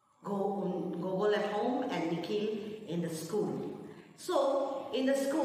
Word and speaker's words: Nikhil: When the principal pronounced Nikhil, he heard that the second portion sounded like heel, H-E-E-L, heel.